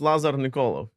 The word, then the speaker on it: Lazar Nikolov: And we have a special guest this week, and that is Lazar Nikolov. Did I get anywhere close? That was all right. Yeah, it's Lazar Nikolov.